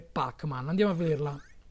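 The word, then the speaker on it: Pac-Man: realtà è corretta perché gli americani dicono packman però avrebbe dovuto dire pac man andiamo a vederla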